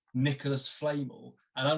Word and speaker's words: Flamel: And it's an American YouTube video that literally says Nicholas Flamel.